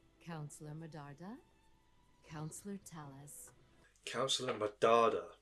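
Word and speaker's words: Medarda: Mard councelor Talis councelor madada not counselor madala councelor councelor madada okay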